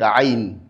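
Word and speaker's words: ع: Nous avons la lettre ain ain ain l'erreur qui est effectué par beaucoup d'apprenants, c'est le fait que il implique la cavité naszale dans la prononciation de cette lettre. La lettre aine a pour lieu d'articulation l'épiglotte. Donc au milieu de la gorge, on est censé à dire a ain ain sans pour autant impliquer la cavité nazale.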